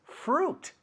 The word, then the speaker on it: fruit: Acuérdate, no decimos fruit, eso es como se ve, pero esto decimos fruit. Right? Como traje, se escribe sweet, pero no se dice sweet, se dice suit.